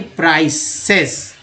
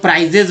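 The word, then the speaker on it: prices: बोलते हैं, पे हाई प्राइसेस। अब इसको लोग प्राइजेस बोल देते हैं, जो कि गलत उच्चारण करते हैं। यहाँ प्राइसेस रखना है ध्यान आपको हमेशा।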